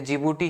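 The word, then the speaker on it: Djibouti: Somalia है, यहाँ पे एक छोटी सी कंट्री जिबूटी है, जिबूटी की स्पेलिंग डी से शुरू होता है, ये आप ध्यान रखना। सोमालिया है, जिबूटी है, एरिट्रिया है और इथियोपिया है।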